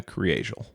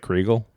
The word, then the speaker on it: Kriégel: Today's story is about the murder of Ana Kriégel. Ana Kriégel. Yeah. So it looks like Kriegel. Like if Okay. you're just looking at it, Kriegel. But it's pronounced Kriégel.